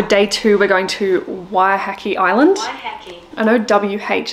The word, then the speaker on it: Waiheke: and we want to make sure that we're pronouncing things right. So day two, we're going to Waiheke Island.